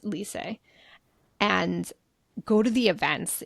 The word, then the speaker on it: Lisse: It's spelled Lisse, but it's pronounced Lisse.